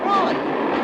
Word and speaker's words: Froy: Froy. Sorry, I can't hear. It rhymes with joy.